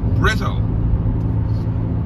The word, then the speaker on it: Bristol: outside the UK might be interested to know that locals pronounce Bristol as Brizzle.